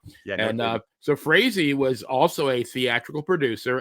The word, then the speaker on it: Frazee: The Boston Red Sox owner, Harry, I guess it's Frazee, I believe it's pronounced. Frazee.